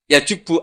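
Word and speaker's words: يجب: itu bacanya bukan yajibu tapi apa yajubbu a yaq lah kalau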